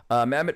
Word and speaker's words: Mehmet: Mehmet, pronounced Mehmet.